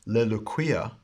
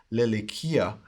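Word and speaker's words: λελυκυῖα: So we have leluquia, leluquias, leluquia, leluquian, leluquiae, leluquion, leluquias, leluquias, using the Erasmian pronunciation. Now the modern pronunciation, lelikia, lelikias, lelikia, lelikian, lelikie, lelikion, lelikies, lelukias.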